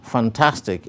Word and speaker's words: fantastic: photo which has two when we bring the word fantastic into its various syllables we have three syllables fun task take the primary stress is placed behind and on top of the syllable tas as it is the syllable with the greatest emphasis of prominence thus you can see